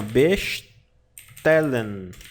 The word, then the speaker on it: bestellen: Alemão tem som de s de ch você pronuncia assim a bestellen tal B tér Lan Ah tá tá Lan bestellen bastan pedir e todo o verbo no Alemão